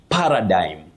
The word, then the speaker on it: paradigm: You say paradigm, a paradigm shift.